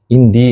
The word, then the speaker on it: عندي: Indi. Ana tadi ngomong indi bukan indah.